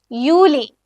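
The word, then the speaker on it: Juli: അതേപോലെയാണ് നിങ്ങൾ യോട്ട് വരുന്ന വാക്കുകളുടെ ഉച്ചാരണം യൂസ് ചെയ്യേണ്ടത്. യോഗൂർട്ട്. യോഗൂർട്ട് meaning yoghurt. Okay, yacht use ചെയ്തിട്ടുള്ള കുറച്ചുകൂടെ വേർഡ്സ് നോക്കാം. യൂലി.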